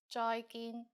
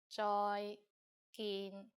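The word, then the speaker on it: 再見: And you are right, it's just like the English bye-bye with a Cantonese pronunciation. Bye, bye. And in formal situations, use 再見, 再見.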